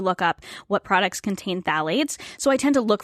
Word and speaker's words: phthalates: phthalate free products and phthalate is actually spelt with a p it's p h t h a l a t e s so if you google it with a t it won't well it'll